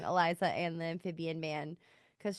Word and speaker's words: Elisa: like it really applies to the relationship between Elisa or Eliza sorry I keep saying her name wrong Eliza and the amphibian man cuz she like in